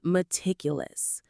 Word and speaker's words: meticulous: The word is meticulous. Let's get the pronunciation right. Four syllables. M tickless. Again, m tickless. The stress is on tick.